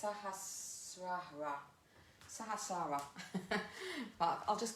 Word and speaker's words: Sahasrara: So I'll try and pronounce it in Sanskrit. It's Sahasrara.